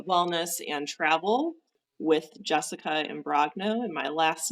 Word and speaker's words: Imbrogno: shine on uh wellness and travel with Jessica and brogno and my last name is a little tricky so I will spell it for people it's i m b r